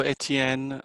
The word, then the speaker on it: Etienne: Well, it's French, so Etienne. How do Germans pronounce it?